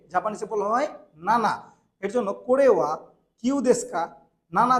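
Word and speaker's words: 七: সাত কে মানে সেভেন কে জাপানিসে বলা হয় নানা এর জন্য করেওয়া কিউদেসকা নানা দেসকা এটা কি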